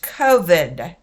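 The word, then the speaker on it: כבוד: So it's K-O-V-E-D. COVID. Pronounced COVID.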